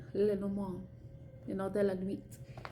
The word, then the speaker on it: Lenormand: Yes, it's French, and I don't care if I sound pretentious pronouncing it with a French accent. As best of a French accent I can imitate. Lenormand, you know, de la nuit.